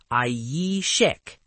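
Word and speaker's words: عيشك: It's ayishek. And the key is that strong y sound at the very beginning.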